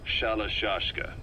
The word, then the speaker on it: Shalashashka: Because somewhere along the line, Shashka got stuck on the end of Shirashka. The guerrillas were using the name amongst themselves. And by the time I got to hearing about it, the pronunciation had wound up as Shalashashka. So half Gulag, half hero sword.